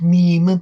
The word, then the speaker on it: Mimi: I wrote down the word Mimi for some reason, and that's not the... It's pronounced meme.